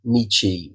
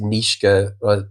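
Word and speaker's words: Nietzsche: Um and um we there's a lovely quote which is from Nichi the German philosopher often like some people pronounce it nishka and I've been told off a few times that it's nichi.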